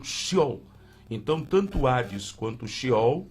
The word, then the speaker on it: Sheol: Então ali o Hades, ou Sheol, não é Sheol, o S e o H junto, a pronúncia no hebraico seria do clássico um X, então Sheol.